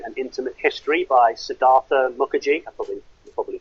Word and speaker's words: Mukherjee: And I'm reading a really interesting book at the moment called The Gene and Intimate History by Siddhartha Mukherjee. I probably butchered his name.